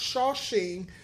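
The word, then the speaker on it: Shaoxing: start with some sashing it's a pronounced shocking but you may see it spelled with an X it's still the same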